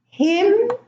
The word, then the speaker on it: hymn: Now in the second column, I have autumn, column, condemn, dam, solemn, hymn, and government. Now, the N here is silent in all of those words, and in the first